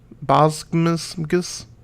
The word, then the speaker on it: Boggs: At least you're pronouncing my name right. Boggs.